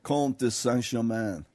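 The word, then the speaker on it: Comte de Saint-Germain: Comte de Saint Germain.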